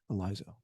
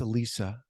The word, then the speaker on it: Elisa: Eliza, welcome. Thank you. Thank you. So, before we get going here, I'm sorry, it's Alisa. It is sorry I mispronounced your name.